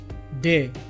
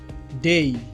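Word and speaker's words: day: ডে, এটি ভুল উচ্চারণ। এর সঠিক উচ্চারণটি হবে ডেই। ডেই।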